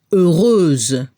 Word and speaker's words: heureuse: El femenino heureuse. Transformamos la X por SE. Y a nivel de la pronunciación al femenino se debe escuchar la Z al final. Heureuse.